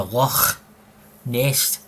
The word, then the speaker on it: Loch Ness: But I'm just telling you, he actually has been to Loch Ness. See when you say Loch Ness, you've got to go as if you're bringing up phlegm, you know?